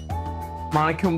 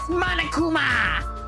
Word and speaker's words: Monokuma: Is it Isaru Kamakura what Monokum but real? It's Monokuma.